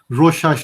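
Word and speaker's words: Rorschach: on it on google it's pronounced as rosh hash diagram all right don't analyze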